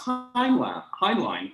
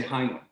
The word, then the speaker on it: Heinlein: And you know, the way you pronounce Heinlein is the German way, right? Like Einstein or even Eich, you know, right, the verb. But in America, we say Heinlein, because that's what I'd like to talk about next.